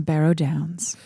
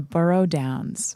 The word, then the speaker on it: Barrow Downs: Join us next week as we discuss chapter 8, which is called Fog on the Barrow Downs.